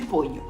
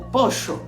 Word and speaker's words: pollo: usando o exemplo de pollo. Tu poderás escutar pollo, pollo, pollo ou pocho, dependendo da região ou do país onde tu estiveres.